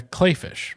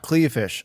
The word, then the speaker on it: Kleefisch: governor under Scott Walker Rebecca clayfish not cleish apparently even though it's spelled like it should be cleish everyone says clayfish so so are we